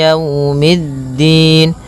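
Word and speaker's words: يوم الدين: Jangan sampai dibaca dengan e tapi dia i Maliki maiki yaumiddin. Pada lafal yau di sini ada bacaan lin yaitu berupa fathah bertemu dengan huruf wau. Maka yaumiddin kemudian mid langsung ke da.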